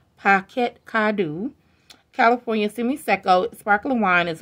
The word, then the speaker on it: Parquet Cadeau: art packets could do pronounced pocket kadu California semi-seco sparkling wine